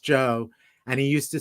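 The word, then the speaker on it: Geo: everybody called him joe spelled g-e-o but pronounced joe and he used to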